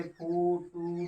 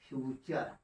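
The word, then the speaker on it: future: अब इसको देख लीजिए, एफ यू टी यू आर ई। इसको वैसे पढ़ना हुआ तो हम कहते हैं एफ से फ, यू से फू, टू रे। नहीं भाई, फुटू नहीं कर देना। ये तो हमारा क्या लिखा गया है, फ्यूचर।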